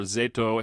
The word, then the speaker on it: Roujin Z: And we are reunited again uh this week to talk about the film Roan Z or Zetto if we want to be Japanese about it as we found out before the uh the pronunciation is is more accurately pronounced from 1991.